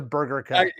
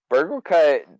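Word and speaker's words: Burglekutt: They actually changed the name to Burger Cut. I'm making you say it wrong now too. I feel extra good. Burgle Cut definitely.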